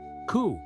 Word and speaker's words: coup: Coup, pronounced like coup, was a game of courage where warriors would get as close as possible to an enemy without killing them.